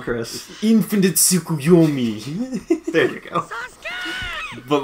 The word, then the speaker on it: Tsukuyomi: Infinite Tsukuyomi.